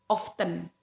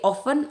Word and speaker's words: often: Often, ini kalau often ada dua pengucapan, guys. Kalau dia tergantung apakah dia American atau British. Ya, salah satu dari mereka itu tidak mengucapkan T-nya. Ya, ada yang mengucapkan often, ya. Jadi often atau often.